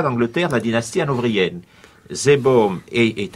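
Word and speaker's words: Seebohm: c'est l'ouvrage sur la communauté villageoise anglaise de, je ne sais pas comment il faut le prononcer, Zeebaum. Alors voilà, oui, Zeebaum, c'est ça.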